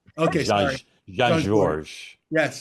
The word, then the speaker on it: Jean Georges: from my house and the S is silent. Okay, sorry. Jean Georges. Yes. Jean Georges.